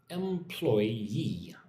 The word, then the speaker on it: employee: Employee. 3 syllables.